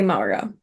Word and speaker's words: Maura: work Searching for Maura, which I believe everyone reading it would pronounce Mora. So which one is it actually? It's Maura, right? We do say Maura. Yeah, Yeah. we would say Maura.